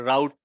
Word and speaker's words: route: a concept here a route table you can also pronounce it as root table but in the US it will be route table in the UK it will be root table so let's see how